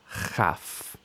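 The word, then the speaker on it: כָף: And without the dagesh, we get chaf. So we have kaf and chaf, making the k and ch sounds.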